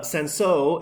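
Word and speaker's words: Cinsault: was appropriate so uh senso is spelled c-i-n-s-a-u-l-t sometimes you see it on a bottle without the l um there's some uh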